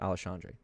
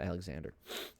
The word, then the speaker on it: Alexandre: spell it alessandra or how you pronounce it alexandre not alexander alexandre pantosia dude came